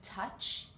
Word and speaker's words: touch: book look and cook here we have a silent o in the word touch just the U makes it sound and here is our